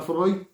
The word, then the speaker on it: Freud: Bueno, decía Freud, creo, como le quieras decir. No, se pronuncia Freud según este los cánones de la lengua.